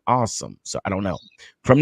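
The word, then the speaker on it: Asim: offensive tackle awesome Richards now they say he pronounce his name I kept saying I see him but they say pronounce his name awesome so I don't know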